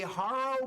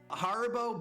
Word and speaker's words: Haribo: A Haro Boba Boba drink. I didn't mean to I mispronounced that terribly. Haribo Boba Gundam.